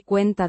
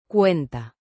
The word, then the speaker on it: cuenta: with a soft T. sound like the T in water.